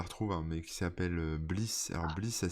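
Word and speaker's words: Bleass: Alors, faut que je la retrouve, hein, mais qui s'appelle Bliss. Alors, Bliss, ça s'écrit B-L-E-A-2-S.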